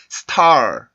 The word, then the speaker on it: star: 그러면 이 단어를 발음을 할 때 star 이 소리가 아니라 star 이런 식으로 만들어주는 게 훨씬 더 자연스러운 소리가 나고요. 실제로 원어민들이 발음하는 소리를 들어보면 이런 식으로 된 소리가 이때 납니다.